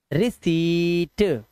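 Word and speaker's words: receipt: पढ़ो इसको रिसीट रिसीट आधा पाए ना ये लिखा हुआ जो आधा पा लगा हुआ है ट से पहले।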